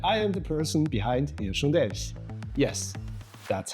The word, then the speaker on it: hirschundelch: I am and I am the person behind hirschundelch. Yes, that's how it is pronounced.